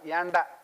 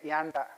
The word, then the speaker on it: Janda: It is pronounced as yanda. Vladimir yanda.